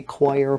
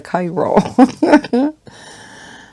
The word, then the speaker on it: chiro: lot of people say choir practice it's like you know they just transpose a couple letters and you get choir instead of the chiro and i'm done telling